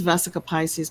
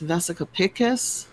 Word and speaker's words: vesica piscis: the vivid paintings with everybody says vesica Pisces but it's vesica piscis I think I'm saying it correctly now which is like